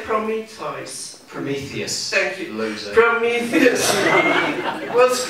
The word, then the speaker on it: Prometheus: promethos how do you say from me toys prometheus thank you loser prometheus was granted to be